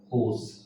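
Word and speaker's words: coarse: इसमें friends आर silent है, इसको पढ़ेंगे कोस, कोस प्रोनाउंस करेंगे इसको कोस।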